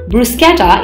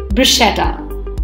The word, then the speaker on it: bruschetta: It is often incorrectly pronounced as bruschetta. Please remember, the SCH here is pronounced as SK, making it sound like skr, skr. Hence, the correct pronunciation of the word is bruschetta.